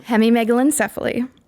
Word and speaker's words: hemimegalencephaly: Hemimegalencephaly.